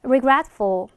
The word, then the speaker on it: regretful: 그 중간에 트 발음 살짝 탈락되면서 regretful 이렇게 발음해 주시면 되겠습니다.